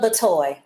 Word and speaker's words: Batoy: Is it Batoy or Bitoy? Just pronounce that for us. Batoy. Batoy.